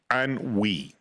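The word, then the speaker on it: ennui: So, Eugene O'Negan suffers from an that's spelled E N UI. Anwi, all right, it's it's a French term and it means I'm rich, entitled, and bored.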